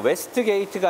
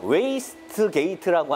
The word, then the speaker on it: 웨이스트게이트: 노사장, 웨스트게이트가 아니라 웨이스트게이트다라고 정확히 발음을 하라 그러는데 이쯤 되면 막가자는 거죠.